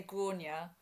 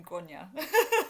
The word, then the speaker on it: Grainne: you did I mean it's one of those ones where you pronounce it differently in Ireland compared to England I say gronia but I always find it in English accent like the gr my mom calls me grona it's it's one of